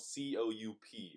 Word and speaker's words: coup: coup now qu what is qu mean and it's spelled cou P so it's like coop what does coop mean it's pronounced coup and I will read you the definition right